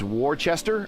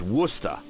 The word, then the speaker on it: Worcester: Another thing out of Boston, it's Worcester on the map. It reads like Worcester. But if you talk to someone from Massachusetts, it's Worcester. That's how they say it, Worcester.